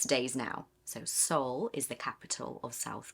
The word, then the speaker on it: Seoul: So, Seoul is the capital of South Korea. And the pronunciation is the exact same pronunciation as your soul, which is what is